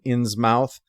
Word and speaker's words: Innsmouth: the little-spoken-of town of Innsmouth. Some adaptations pronounce it as written, Innsmouth, but since this is New England, which pronounces such places as muth, like in Plymouth, that's what I'm going to be using.